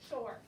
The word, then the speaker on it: shore: And next week we're learning about the O-R-E and the E is silent. So it's just or, shore.